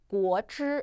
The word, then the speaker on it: 果汁: 그다음 우리 주스 발음이 果汁 라고 발음해 주시면 되는데 보시면 이제 앞에 삼성, 果, 삼성 강하게 하지 마시고요. 반삼성 처리해 주시면 되겠습니다. 그 다음 汁 같은 경우 건설음 있으니까요. H 발음 넣어 주셔야 돼요.